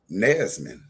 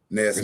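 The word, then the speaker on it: Nansemond: Nesman. N A N S E M O N D. A lot of us got roots with that tribe. That's a federally recognized tribe. They're Nesman. Nesman.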